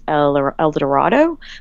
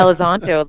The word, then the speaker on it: Elizondo: And why they didn't ask the former minister, I always say his name wrong, Luis Eldorado? Like, why they didn't ask him? Yeah, Elizondo.